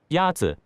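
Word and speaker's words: 鸭子: Yazi Is pronounced with a first tone.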